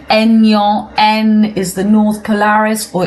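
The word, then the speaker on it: Aignan: It's a silent g in French. So we say en is the north polaris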